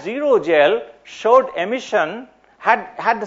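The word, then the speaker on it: xerogel: are left with is called a zero gel zero spelled with an X okay so that's zero gel short emission had had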